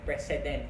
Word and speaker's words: precedent: Stare decisis or yung doctrine of precedent. Yes, precedent. Precedent. President, hindi president. President. President, P-R-E-C-E-D-E-N-T. Ako dati ang pronunciation ko dyan, president.